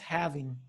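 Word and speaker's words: halving: to say it it's so it's it's actually pronounced having the having yeah it just sounds I like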